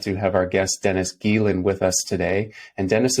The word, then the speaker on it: Geelen: Yep, it's Geelen. Geelen? Awesome. Yep. Perfect. All right. Yep. So we'll start now. Welcome to episode 17 of The Interesting People You Meet. We're glad to have our guest Dennis Geelen with us today.